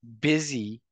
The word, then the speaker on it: busy: in spelling and pronunciation here busy spilled with the B uy has the same sound as a double z bzy it sounds has the same sound as dizy busy dizzy so that's one example about